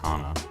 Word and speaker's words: Hana: Hannah to 0. Hana. It's pronounced Hana.